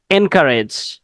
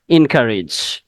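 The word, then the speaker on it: encourage: ওয়ান ইজ আমরা বলি এনকারেজ এনকারেজ মানে কি এনকারেজ কাউকে উৎসাহ জোগানো ঠিক আছে আমরা বলি কি এনকারেজ আসলে উচ্চারণটা এনকারেজ হবে না উচ্চারণটা হবে ইনকারেজ এনকারেজ ইনকারেজ ওকে ইনকারেজ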